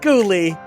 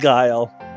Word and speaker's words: Guile: But it's not pronounced Ghoulie, it's pronounced Guile.